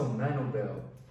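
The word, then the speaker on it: Manobal: Larissa Manubel pronounces Larissa Manubel. Pronounced as Manubel. Manubel from Thailand.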